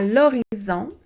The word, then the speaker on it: horizon: À l'horizon. Donc, par exemple, le soleil se couche à l'horizon. Pensez à horizontal, OK? Il y a un H muet, un H au début.